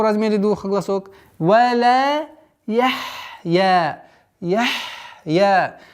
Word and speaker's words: يحيا: Валя яхья. Яхья. Нужно четкое произношение звука ха с сукуном.